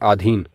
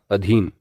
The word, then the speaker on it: अधीन: इसी प्रकार से हम शब्द का उच्चारण करते हैं आधीन जबकि यह अशुद्ध रूप है इसका शुद्ध रूप होगा अधीन आगे बढ़े अगला शब्द है